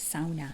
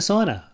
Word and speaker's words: sauna: if you're from Finland that's how you'd say that's exactly how you say it as my good buddy Andrew would always point out and remind me of but yeah I'm like Oh you mean a sauna no AA the the